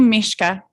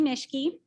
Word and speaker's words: Mishke: Up next is Mishka. Is that how you say it? No. No, sorry. I tried. I'm going to start. Okay. My name's Mishke, and I have a trans junior at Basalt High School.